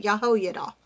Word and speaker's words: Jehoiada: or his teacher is Jehoiada, and I'm probably butchering that, but that's how you say it, Jehoiada, and it's supposed to be down here in your throat.